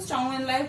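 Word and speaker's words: Zhou Enlai: के prime minister थे चाओ एन लाई। इंग्लिश में, चाइनीज में हम ऐसे लिखते हैं जेड को, लेकिन हम हिंदी में जब प्रोनाउंस करेंगे तो चाओ एन लाई करेंगे प्रोनाउंस।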